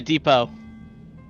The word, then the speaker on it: depot: Yeah, depot. What does it say for you? The T is silent, Mario.